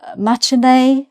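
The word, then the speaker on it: matinée: Um, matinea. Again, you may not have the accent on the e.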